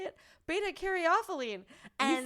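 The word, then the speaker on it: beta-caryophyllene: one because it has i can't say it beta-carothylene and you said it right and she's teaching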